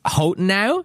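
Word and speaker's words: Hotenow: it's Hotenau, but it's spelled Hotenau. H-O-T-E-N-O-W.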